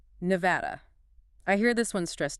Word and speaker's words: Nevada: There's a common variation stressing the first syllable, NEVA day, often heard on national news. But the locally preferred and generally accepted standard pronunciation stresses the second syllable with a short A sound like in cat, Nevi-ada.